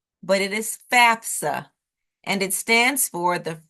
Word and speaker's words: FAFSA: it FAFSA is an acronym which is often mispronounced as FASA but it is Fafa and it stands for the free application for